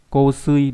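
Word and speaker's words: 香水: Hay đọc là ko ở trong từ gì nhỉ? Trong từ kosui, đúng không?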